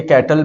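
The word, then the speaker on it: Cattell: कैटल, अच्छा ये कैटल नहीं है, कुछ लोग इसको कैटल पढ़ते हैं, कुछ लोग इसको कटेल पढ़ते हैं। ठीक है, गूगल पे जाएंगे तो वहाँ पर प्रोनाउंसिएशन इसकी जो होती है ना कटेल होती है, तो हम भी कटेल पढ़ेंगे।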